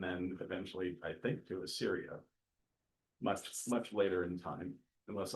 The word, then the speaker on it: Assyria: So initially to northern Israel, and then eventually, I think, to Assyria, much later in time, unless I misunderstood you. Did I say Syria?